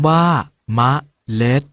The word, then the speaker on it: เมล็ด: ออก เสียง ว่า ขนน เอา เมล็ด ออก เสียง บ้า เมล็ด เดี๋ยว เรา มา ออก